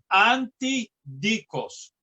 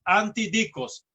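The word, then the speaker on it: ἀντίδικος: de la palabra griega antidikos. Yo no sé si lo estoy pronunciando correctamente, lo estoy pronunciando como se pronuncian en español. Anti, las letras A, N, T, I, y luego dikos, D-I-K-O-S, antidikos.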